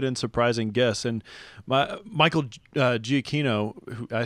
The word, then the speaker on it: Giacchino: And Michael Giacchino, I say Giacchino, you guys were saying Giacchino. I don't know what happened to that other syllable there, but regardless, I'll tell you what I thought.